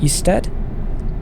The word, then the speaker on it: Ystad: I think that's how you pronounce Ystad. The Y is just, it's like a cross between a Y and a U, I think.